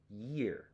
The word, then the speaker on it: year: use okay you you it's a very strong y letter right so if you go you yes yeah year and then go over to the word ear that's a good way to practice pronunciation uh for the difference between